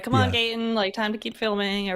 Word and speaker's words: Gaten: How do you pronounce it? I always thought it was Gotten, but in the commercial they said Gaten. It's Gaten.